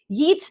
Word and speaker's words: Yeats: Okay, so moving ahead with this, WB Yeats आज हम लोग करेंगे, a very, very important poet.